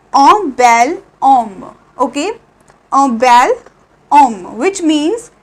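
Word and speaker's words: homme: सो we have H here. ठीक है, which is silent in ओम.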